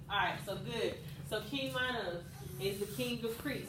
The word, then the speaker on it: Minos: They always pronounce the I. So King Minos.